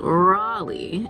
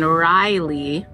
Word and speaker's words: Raleigh: okay first of all she told me that it's pronounced Raley and I've been saying Riley this whole time I feel like I'm still going to be slipping up saying Riley and not Raleigh ra Raleigh Raleigh Raleigh